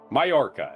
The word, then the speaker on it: Mallorca: Mallorca. It's spelled Mallorca. The L's are silent, sorry.